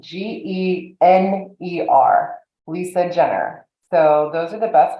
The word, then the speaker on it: Gener: I'm also on LinkedIn and my last name is spelled g-e-n-e-r Lisa Jenner so those are the best ways to find